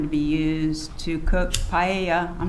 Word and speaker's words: paella: that was going to be used to cook paella. I'm not sure if that's how you pronounce it at the party. It's not. It was even worse than what regular people say. It's pronounced paella.